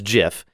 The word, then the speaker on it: GIF: the gif format yes i said gif but some also pronounce it as jif is a legacy format